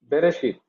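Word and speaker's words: בראשית: Bereshit. Deacon Maman. Already the syllable has been divided here.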